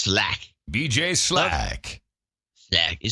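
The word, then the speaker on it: Slaght: It's got it spelled S L A G H T. And he says pronounced Slack.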